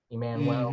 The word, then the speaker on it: Emmanuel: So so the U in there takes on a W pronunciation, right? Emmanuel.